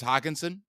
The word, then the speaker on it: Hockenson: Thomas James Hockenson is in a revenge game, and people are